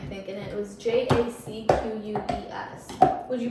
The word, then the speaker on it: Jacques: It was J A C q U E S. Would you pronounce it as Jacques? J A C Q U E S. Jacqu Jock.